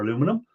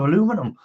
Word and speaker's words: aluminum: bits off, so it's nice clean aluminium or aluminum, whichever way you want to pronounce it. I think Mike was live the other day, and he said aluminium instead of aluminum, or which way?